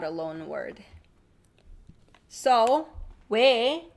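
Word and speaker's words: 외: It should be oy, but it's not. It is 왜.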